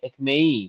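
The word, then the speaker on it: ekmeği: Nah, kalau di ekmek di sini K-nya berubah jadi R. Ekmei bacanya ya.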